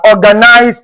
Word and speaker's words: organize: important to note that organize is a 3-syllable word. It is not in this form. If you have this now, you'll have a 4-syllable. But if you have to check the number of syllables of ORGANISE, it is what? 3-syllabic words and not what? And not 4.